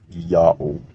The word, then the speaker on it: Iaho: it's a y sound now the latin letter h at the time of jerome is an h sound if it's the first letter of a word but if it's not it's a silent letter and latin adopted that rule from ancient hebrew so iaho is read clearly as yahoo one more evidence in